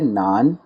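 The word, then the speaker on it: 难: Okay, word है नान, याद रखने में बहुत आसान। जिस तरह हम उर्दू में ये नान चने वाले जो नान होते हैं, सिंपल वैसा इसका प्रोनाउंसिएशन है।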